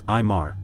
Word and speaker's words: Amar: My name is Amar, that's Imar, though most refer to me as in person.